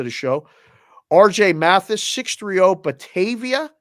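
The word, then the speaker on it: Batavia: show RJ matthysse 630 bavia Illinois is that right I think bavia is correct that's how you say it sure I'll take your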